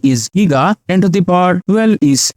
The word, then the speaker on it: giga: power 12 is Tera sometime the Giga is pronounced as jiga also so some country they call it jiga and some countries it calls Giga both are okay the next one is